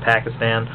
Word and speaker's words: Pakistan: It was like when they jumped on Obama's shit for his pronunciation of Pakistan, I believe is the proper pronunciation, Pakistan.